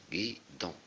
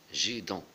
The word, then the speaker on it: guidon: Ici, G est suivi de U. La lettre, la voyelle U, donc ça se prononce gui. Puisqu'il y a la lettre I qui commande. Guidon. Alors que le U, c'est seulement pour éviter de dire gidon.